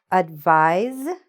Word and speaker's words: advise: This is how we pronounce it. Let's go to the next pair. Advise, the verb, advise, advice.